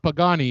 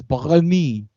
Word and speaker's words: Pagani: So it's not Pagani, it's Pagani. Pagani.